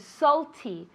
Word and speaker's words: salty: Salty. Salty. Really, that A, we pronounce it as if it were an O.